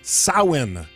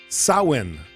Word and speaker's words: Samhain: On the eve of that new year, Halloween, they celebrated a festival they called Samhain. Samhain, S-I-M-H-A-I-N. Looks nothing like Samhain, but that's how it's said.